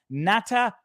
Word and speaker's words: nattokinase: It's pronounced nattokinase.